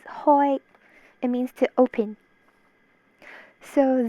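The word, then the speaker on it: 開: Kai, the last character is Kai. Cantonese. Wait, no, that was Mandarin. Mandarin is Kai. Cantonese is Hoi.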